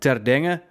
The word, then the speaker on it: ter Denge: have a very difficult last name it's properly pronounced as Dana but it's a bit it's a bit much